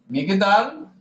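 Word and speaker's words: מגדל: Vejam que na minha transliteração ele não aparece porque ele indica ausência de vagal, tá? Então ele é ele quebra uma sílaba aí, tá? Migdal. Migdal.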